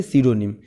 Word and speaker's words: pseudonym: देखिए, सीडोनिम का स्पेलिंग जो होता है PSEUDONYM, यानी ये पी से शुरू होता है और बोलते हैं इसे सीडोनिम।